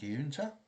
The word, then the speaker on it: Giunta: The art was by Gil Kane and John Giunta, that's the way you pronounce it, and it was from Strange Adventures number 26, November 1952.